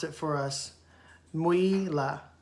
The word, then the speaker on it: Mwila: Mwila is how Miss Merriam-Webster would have broken down his pronunciation. Mwila.